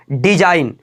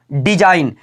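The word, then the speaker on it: design: पर एग्जांपल दिया है डिज़ाइन क्या बोला डिज़ाइन एन से पहले आया जी हमारा बिल्कुल क्या होता है साइलेंट होता है इसका उच्चारण बिल्कुल नहीं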